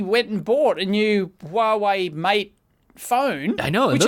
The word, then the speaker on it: Huawei: Now we have to talk about the Huawei thing. Am I pronouncing it correctly? That's how I say it. I say Huawei. Yeah. Huawei? Yeah. I usually don't even say the H usually.